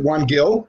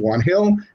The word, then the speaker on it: Juan Gil: some people don't know the brand and they pronounce it one gill but it is actually like you say it's actually pronounced juan hill and if you pronounce it in spanish they